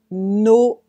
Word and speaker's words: Noël: Le E tréma, and you say it E. E, like E accent aigu. E, joyeux Noël. Joyeux Noël. Now, let's take some time to pronounce it well for beginners. We say joyeux Noël.